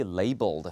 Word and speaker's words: label: Or do they need to be labeled? 예, 여러분이 이제 라벨 하는 거 있죠. 그게 이거예요. 예, 라벨 아닙니다. label이라고 읽고요. 그러니까 표식을 붙이는 거죠.